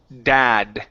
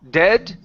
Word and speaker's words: dad: last one here is the word Dad instead of dead okay it's ah widen in your mouth a little bit ah ah da Dad